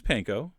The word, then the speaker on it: panko: or you could use panko and by the way that's exactly how you're supposed to pronounce it and then unless you